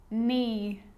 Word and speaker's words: knee: you know this one a k is not pronounced when it comes before an n like knife no knee knock not knowledge the